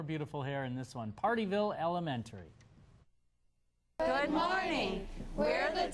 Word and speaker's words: Pardeeville: a good time in partyville well maybe it's because the name sounds like even though it's not spelled like it's a party in partyville speaking of in a